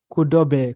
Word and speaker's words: Kodobe: It's not Kodobe, guys. It is Kodobe. Kodobe. We just pronounce like Kodobe, like Adobe, but it's Kodobe.